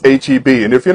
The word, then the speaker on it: H-E-B: all know it looks like Whataburger but it's pronounced Whataburger hey it's also it's not Heap it's HEB and if you're not super loyal and obsessed